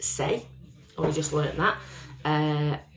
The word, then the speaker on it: Saie: this is this little beauty now this is pronounced say oh you just learned that i follow um